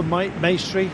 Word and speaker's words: Maestri: Mirko Maestri, rhymes with pastry, may well indeed be doing his lead out.